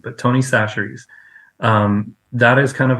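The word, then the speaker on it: Chachere's: it called Tony we we pronounce it chasser but that's not actually how you're supposed to say it but Tony saseries um that is kind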